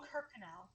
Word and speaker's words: Kirkconnell: Oh, Kirkconnell.